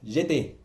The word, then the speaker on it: j'étais: es j'étais, no, es j'étais, ¿de acuerdo? J'étais. Siempre cuando hay una AI suena como E, ¿de acuerdo? Y no se pronuncia la letra al final, la consonante del final de la palabra.